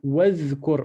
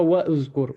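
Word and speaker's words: وَاذْكُرْ: Wazkur. On ne dit pas wa'uzkur. Wa'uzkur, non. C'est le alif ici, il disparaît.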